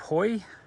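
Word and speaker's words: Hauy: All right, we've reached the last Cape, Cape Hoy, H-A-U-Y, I think it's pronounced Hoy though.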